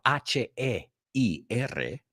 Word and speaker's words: heir: But also the air, que se pronuncia igual, H-E-I-R, is el heredero.